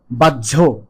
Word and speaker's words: বাহ্য: অর্থ বাইরের বা আপাদৃষ্ট উচ্চারণটি হলো বাধ্য আর পরেরটি বাহ্যিক এরকম উচ্চারণ করতে হবে।